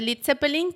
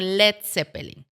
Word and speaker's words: Led Zeppelin: era el futuro manager, le quitó la A lead, ¿no? O Lead, como se escribe, para que no se leyera mal, ¿no? Porque la EA en inglés es como se lee como i. Entonces, en lugar de lead Zeppeling, quedó como Let seppeling.